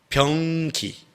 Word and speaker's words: 병기: 무드셀라의 이름의 뜻은 병기. 이거 발음 되게 잘해야 돼요. 변기가 아니라 병, 창, 칼 하는 군사가 쓰는 그런 병기.